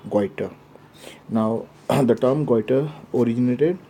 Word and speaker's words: goiter: pronunciation is quite and we should not pronounce like quite okay it will be a wrong pronunciation but rather we should pronounce weiter now the term quiter